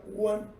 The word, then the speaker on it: one: Este número, aunque empiece con vocal, se pronuncia one. No tiene inicio de sonido de vocal. Tiene sonido de consonante.